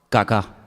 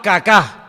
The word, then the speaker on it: Kaká: muy feo, se llamaba Kaká. Menos mal que tenía el acento ahí. Si llega a tener el acento en otro lado, peor todavía. Se llamaba Kaká.